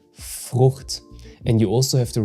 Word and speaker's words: Frucht: And the tricky part here is that you don't pronounce CH like the CH in chair. If I had to describe it, it's more like a hiss in the back of your throat.